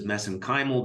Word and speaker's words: mesenchymal: which I pronounce as mesenchymal because that's how they pronounce it in Ireland I know there's other